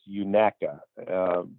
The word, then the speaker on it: Unaka: A local told us if you want to sound like a local, it's Unaka.